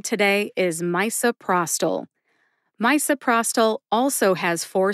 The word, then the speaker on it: misoprostol: supper either one's fine Pros like prostate and toll like Toledo put it all together and you get misoprostol which syllables get the emphasis two syllables get the emphasis in this drug name as well my and Pros get the emphasis Pros gets the most emphasis see if you can